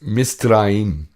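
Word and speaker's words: מצרים: Donc, Égypte en hébreu, hein? Ça se prononce Misraïm.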